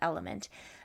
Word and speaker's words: LMNT: that I've been using called element it is spelled lmnt and when we are